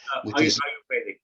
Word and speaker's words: Ayurvedic: Rohan, have you come across any metadata analysis for Ayurvedic diet, if I'm pronouncing that correctly? Ayurvedic, yes.